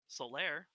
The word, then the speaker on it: Solaire: solar or solar solar solar is probably the better way to pronounce it but solaire he built the impregnable